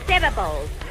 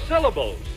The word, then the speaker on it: syllables: the correct pronunciation of the word is syllables yeah that's it are